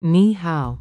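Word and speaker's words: 你好: Ni is the third tone, and hao is the third tone.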